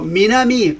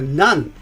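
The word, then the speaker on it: 南: And so Minami, south, it means the south, okay? And but also Minami is a nan. That's how we pronounce that too.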